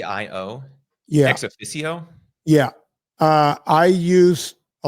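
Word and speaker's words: ExOfficio: I wish I can remember it I cannot pronounce this word it's EXO ffi CIO ex EXO ffi C IO C IO yeah ex aicio yeah uh I use a lot of their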